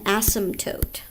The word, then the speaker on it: asymptote: we call that available asymptote right this p here is silent an asymptote is that